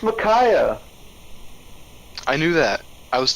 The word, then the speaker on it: Micaiah: can't put out her name right how you pronounce it then it's micaiah I knew that I was testing you oh